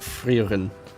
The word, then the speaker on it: Frieren: I have the second volume of Frieren, but, and yes, I pronounce it Frieren, because I'm very, very German.